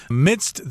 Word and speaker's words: midst: Midst there is kind of difficult to pronounce there because, my goodness, we've got three consonant sounds right next to each other there. D, s, and t. Midst. So you'll have to practice that for a while.